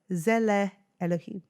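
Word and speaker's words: Tselem Elohim: So you pronounce it as Zele Elohim. Yeah. Ooh, Zelem Elohim.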